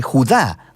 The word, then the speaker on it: Judá: la carta de Judas o más precisamente Judá de acuerdo con la pronunciación de su nombre tanto en griego como en hebreo Judá Era uno de los